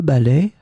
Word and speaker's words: balai: In this lesson, we will see together two words that are written differently but pronounced the same way. Ballet, ballet. So let's start with the first one with two examples. Elle a utilisé le balai pour nettoyer les feuilles dans le jardin.